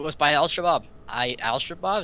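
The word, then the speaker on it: Al-Shabaab: by ALS shabab I ALS shabab is how you pronounce it alsab Kebab God damn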